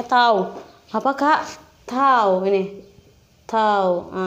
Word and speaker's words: tau: Ini bacanya tau.